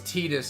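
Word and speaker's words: Tidus: I know it's Tetus is officially how it's pronounced, but it will always be Titus to me.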